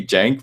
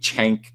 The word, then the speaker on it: Cenk: It's supposed to be Jank, but I think Chank is so much funnier because it's not how it's supposed to be pronounced, and it's insulting.